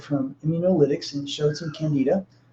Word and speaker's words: candida: This is actually a helpful point in looking at mold versus candida, or candida, whatever you want to call it. You can hear that pronounced 100 different ways, but they're both fungi.